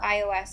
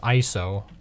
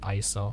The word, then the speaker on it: ISO: It's actually pronounced ISO, not you don't say it as an acronym. It's a word, right?